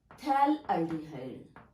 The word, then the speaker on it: phthalaldehyde: When two aldehyde groups are adjacent to each other on the benzene ring, the common name is phthalaldehyde. Actually here pH is silent.